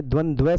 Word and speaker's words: द्वंद्व: फिर आपका आ जाता है द्वंद्व समास। अब ये द्वंद समास नहीं है। द्वंद्व समास है। क्यों है? क्योंकि इसमें दो बार व का प्रयोग हुआ है। तो आपको उच्चारण में यही प्रयोग करना है।